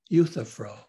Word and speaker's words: Euthyphro: thinking now of a dialogue of plato called euthyphro let me spell that because it's a strange word it's a name e-u-t-h-y p-h-r-o e-u t-h-y-p-h-r-o euthyphro in this dialogue socrates is